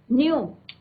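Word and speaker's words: knew: यहाँ पे ये भी देखते रहे कौन सी form of the verb use हुई है, न्यू. ठीक है, के साइलेंट रहता है यहाँ.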